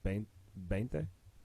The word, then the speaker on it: veinte: It's spelled with a V, veinte, but I know Spanish pronunciation of like B's and V's is very similar. So it's veinte, veinte Oh, diez y uno,